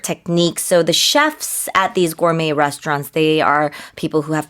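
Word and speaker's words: gourmet: stars at restaurant 그래요 발음을 을고메이라고 한다는 거 기억해 주세요. 프랑스어이다 보니까 T로 끝나지만 T 발음하지 않습니다.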